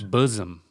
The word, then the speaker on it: bosom: think that's the distinction it's a good word because it has a z sound in it but it has no Z within it those are the some of the best words bosom bosom yeah name some